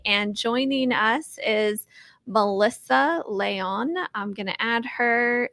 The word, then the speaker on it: Leon: And with my guest, Melissa, is it Leon? Is that how you say it? Yeah, Leon. Yeah.